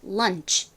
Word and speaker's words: lunch: 여기서 CH는 취 소리가 납니다. 이 취 소리가 CH의 가장 대표적인 소리라고 보실 수 있습니다. 자, 그래서 연결해서 발음해보면 lunch, lunch 이렇게 발음이 됩니다.